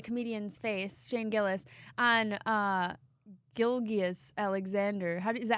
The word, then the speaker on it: Gilgeous-Alexander: And it was like, so it was Shane, the comedian's face, Shane Gillis, on Gilgeous-Alexander. Is that how you say it? Gilgeous? Alexander, yep.